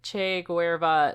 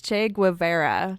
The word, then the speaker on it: Che Guevara: were seen as a che Guerra style Romanticism so Che Guevara's well I said no way wrong or no I'm sorry I said it wrong also it's Che Guevara oh yeah che Guevara